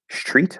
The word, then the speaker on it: street: my mouth treat street i assume you're you're not making the tea into a ch yeah street up the street i can imagine maybe some people saying it that way that's definitely not the way i would think to describe it in like any way because it's normally supposed to be an s um i don't i